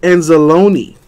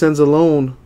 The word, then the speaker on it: Anzalone: Alex Anzalone. Rhymes with pepperoni.